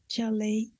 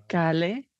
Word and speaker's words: chale: Espero que las personas se hayan dado cuenta que ella lo pronunció como chale en lugar de kale. La letra C es un sonido de CH.